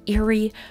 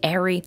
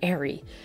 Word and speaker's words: Eri: pronounce it just because it looks like eerie but it's actually Airy it's strange but I'll hopefully try to remember Arie as some of you